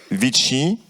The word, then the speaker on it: VITI: porté par une association c'est l'association viti qu'on prononce à la à l'italienne donc van international catholicque